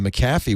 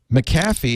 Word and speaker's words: McAfee: You don't get a copy of McAfee when you get a Core 2 Duo.